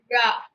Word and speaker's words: ழ: இந்த மாதிரி வளைந்து ழா அப்படின்னு சொல்லணும்.